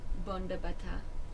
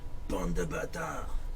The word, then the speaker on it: bande de bâtards: Bon de bâtard. Yeah, but now you have to say it like Bande de bâtards.